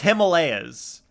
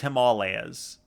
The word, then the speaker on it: Himalayas: He couldn't pronounce the Himalayas. Well, everyone literally says Himalayas. And then Blue, for the first time in my life, is actually it's Himalayas. I'm like, I didn't know. Never knew. They are not Yetis, Palky.